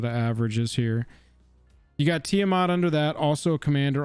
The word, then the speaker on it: Tiamat: Tiamat, the dragon? Tiamat.